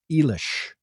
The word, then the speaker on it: Eilish: I was corrected by a listener who says, I believe it's pronounced Eilish.